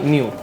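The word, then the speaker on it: ν: न्यू न्यू ठीक है। न्यू को प्रोनाउंस किया जाता है ऐसा न्यू एन इ यू मतलब स्पेलेल एन इ you spelling with न्यू ठीक है डिफाइन करूं इट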